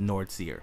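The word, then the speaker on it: Fnordles: It's F-N-O-R-D-L-E-S. Uh-huh. He told me it's pronounced Nordseer.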